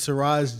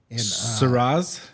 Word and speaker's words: Siraj: So means Siraj. Shiraz? Shiraz, yeah. Like the wine? No, like Arabic for the light of the faith. Siraj. Siraj. Yeah. Am I saying it right? Yeah, Siraj.